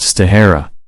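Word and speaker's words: shitahara: These muscles have been named by the Japanese Shida Hara, pronounced Stahara.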